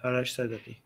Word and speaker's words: Arash Sadeghi: Arash Sadeghi. Yeah. So, wait, give me a second. I want to pull up an image of him. So for those who don't know, Arash Sadeghi is a really, really significant and historic protest